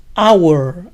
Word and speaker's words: hour: dos hits la hora hour empieza con sonido de vocal agua no se pronuncia la h inicial de entonces día where